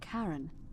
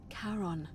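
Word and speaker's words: Charon: it's just as you described it only your pronunciation is a little off the name you heard wasn't Karen it was C h as in Caron the ferryman of the Dead karon who in exchange for the right coin helps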